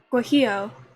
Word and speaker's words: guajillo: sweet Tangy garlic sauce guajillo Jay is pronounced like an h and two L's is pronounced with like a y so guajillo kohio hot sauce doesn't